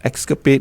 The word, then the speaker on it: Xscap8: Clever, because it's spelled X-SCAP8. Correct. Escapade.